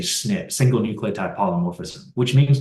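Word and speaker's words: SNP: by the way okay the proper way to say that is a snip single nucleotype polymorphism which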